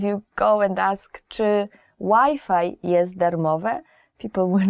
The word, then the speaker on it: Wi-Fi: So you have to change the Wi-Fi pronunciation. Even though the word is the same, the spelling is the same, you have to change Wi-Fi to Wi-Fi.